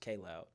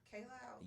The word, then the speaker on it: Kaj Loud: And a disclaimer, and I'm not like completely opposed to people mispronouncing my name, but it's actually pronounced K Loud. K Loud.